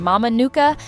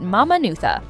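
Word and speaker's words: Mamanuca: The letter C is pronounced like th and Q sounds like G. So Mama Nuka Islands isn't Mama Nuka, but Mama Nutha.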